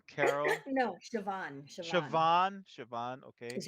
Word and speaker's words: Siobhan: One from and I can't pronounce Irish names. Shibin Carroll, please help me out. Siobhan Carroll. Shiobun Carroll. No, Siobhan.